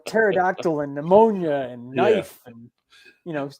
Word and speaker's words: pneumonia: said pterodactyl yeah pterodactyl it's like pneumonia it's not pneumonia ponia English is such a